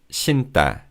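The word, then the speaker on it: 신다: Shinta shinta is used to talk about putting things around our feet.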